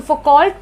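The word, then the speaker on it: Foucault: ये मिशेल है, मिशेल फुकॉल्ट, फुकॉल्ट बोल सकते हो, एक्चुअली इसको प्रोनाउंस किया जाता है मिशेल फुकॉ, तो फुकॉ करेंगे तो हम H लिख के आ जाएंगे, है ना, तो वो नहीं बोलना है अपने को मिशेल फुकॉल्ट बोलना है।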